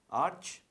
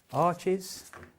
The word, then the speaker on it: Arches: using Arch 300 GSM paper and a rough sheet. That's arches, or arch, however you want to pronounce it.